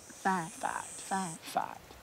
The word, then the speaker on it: fight: Sounds like a F-Y-T-E, fight. Fight. But you got a G right there. Mm-hmm. But it's a silent G again. The G-H is like silent, like a light, right. Right. A right. Right. Slight. Slight. But it's a G-H, and it's silent, and usually you get your...